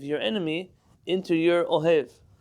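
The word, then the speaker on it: אוהב: Likely, if you read this in an Ashkenazi pronunciation, it all sounds the same anyways. But if you're saying oyev and ohev, they're two different people. One is a friend and one is a foe.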